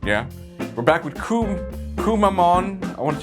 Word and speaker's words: Kumamon: are good looking yeah we're back with cool kumamon I want to say his name right kumamon kumamon kumamon the Japanese mascot bear this is